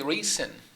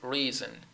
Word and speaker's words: reason: Because the spelling here in English is S, but the pronunciation is Z or Z. Or here, we don't say reason. Too many Spanish speakers could end up saying reason. It is reason, season, passes, packages, logs, tubes, beds, okay?